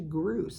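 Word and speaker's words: Gros: Well, it's actually Groose. It's spelled G-R-O-S, or as they sing it, Groose. They actually roll the R's.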